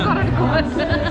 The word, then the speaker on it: Gored: It is Gored.